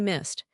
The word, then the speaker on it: missed: Miss ends an s unvoiced. So e d is t missed.